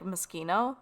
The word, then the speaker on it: Moschino: Island Living, Machino, or Mosquito. They pronounce it like mosquito too. It's like Moschino.